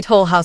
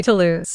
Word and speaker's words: Toll House: literally just a Nestle Toll House recipe. And the way she pronounces it, Nestle Toulouse, absolute perfection.